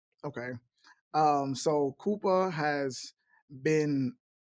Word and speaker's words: Koopah: So, but we want to make sure everybody pronounces it right. So, it's Koopa. Koopa.